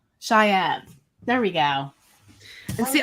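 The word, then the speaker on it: chèvre: So I thought it was like Shaw. I don't know. Yeah. Yeah. But if you ask me in 5 minutes to pronounce it, I'll forget again. Shayev. I'm going to remember that. That sounds way more fancy.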